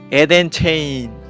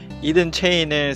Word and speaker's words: EdenChain: 오늘 소개해드리고자 하는 ICO는 이든 체인입니다. 에덴 체인, 쉽게 발음하면 이렇습니다. 안타깝게도 에덴 체인은 이미 화이트 리스팅이 끝난 상태입니다. 텔레그램 방에서 난리가 났었습니다. 왜냐하면 이든 체인을 사고 싶은 사람들이 여기 널려 있는데 화이트 리스팅이 이미 끝났다고 해요.